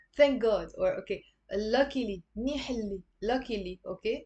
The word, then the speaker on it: منيح اللي: Okay, so thank God, or okay, luckily, منيح اللي, luckily, okay, منيح يلي, but pronounce it as منيح اللي.